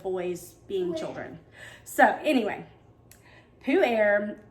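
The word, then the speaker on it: Pu-erh: to talk about is poo air and yes it does sound just like you think it sounds poo air that's how you say it it is not how it's spelled and but it is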